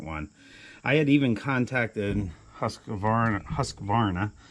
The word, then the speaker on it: Husqvarna: I had even contacted Husqvarna. I always want to put an extra syllable in there.